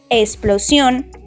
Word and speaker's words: explosión: total de nueve letras explosión contiene tres sílabas sión y es una palabra aguda las palabras agudas son las que llevan el acento en la última sílaba y se les pone